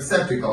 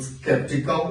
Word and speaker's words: skeptical: Вы можете услышать слово skeptical как вариант как skeptical, но в своей программе прочитывают skeptical.